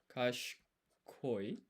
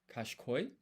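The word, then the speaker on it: かしこい: This one is kashkoi. So that's this. Kashkoi. The funny thing here is you don't pronounce this I.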